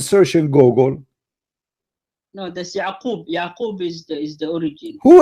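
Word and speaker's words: Ya'qub: Yeah, It's Yaqub in Arabic.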